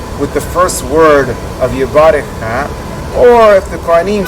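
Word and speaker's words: יברכך: want to note that the Halabi tradition is to pronounce that first word, Yebarekh-kha, which is not like most other communities do. Other communities pronounce that word Yebarekh-kha.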